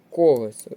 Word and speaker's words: колесо: наголос на другий склад колесо з наголосом на перший склад правильний варіант і котрий